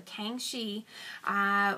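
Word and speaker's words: Kangxi: in agriculture as well Kang Chi that is k-a-n-g-x-i so kangshi was an emperor who worked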